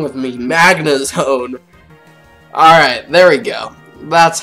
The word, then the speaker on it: Magnezone: magnet mac magazine what is wrong with me Magnezone alright there we go that's how you pronounce it all right off the bat I